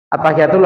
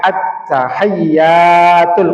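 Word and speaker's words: التحيات: At-tahiyatul harus dibaca panjang ya. At-tahiyatul.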